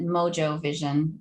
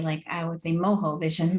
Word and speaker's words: Mojo Vision: Well, this is exactly what a tech company called, I'm assuming they pronounce it Mojo Vision, even though, as a Latina and Cuban woman, I would say Mojo Vision, but I don't think